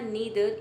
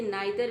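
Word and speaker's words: neither: और यहाँ पे आपने देखा नीदर, इसे नाइदर भी पढ़ा जाता है। नाइदर नॉर भी पढ़ते हैं और नीदर नॉर भी पढ़ते हैं। दोनों तरीके से प्रोनाउंसिएशन सही होगा, जो आपको इजी लगे आप प्रोनाउंस कर सकते हैं।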